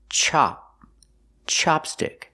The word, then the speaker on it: chopstick: this is a chopstick we use the short a sound like hot and stop chop Chopstick this is a chopstick